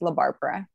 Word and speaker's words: La Barbara: do you pronounce it basically make it as white as possible so it's just la barbara okay le barbara is here with us